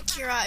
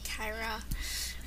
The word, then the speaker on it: Kira: I pronounce her name Kira. If you pronounce it Kyra, then that's good. You could do both ways.